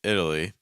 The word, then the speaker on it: Italy: it because that's happening the letter T is not pronounced as T it's actually pronounced as what's called a fast D sound it's like I'm keeping